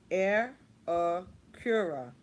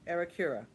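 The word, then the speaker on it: Aerecura: But they do have the pronunciations here. Okay, let's see. Arakura. Arakura. Okay, Arakura.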